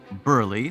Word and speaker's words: Burley: of ksh town called Burley Road pronounced Burly thank you very much